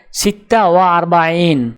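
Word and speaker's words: ستة وأربعون: উচ্চারণ হবে সিত্তা ওয়া আরবাইন।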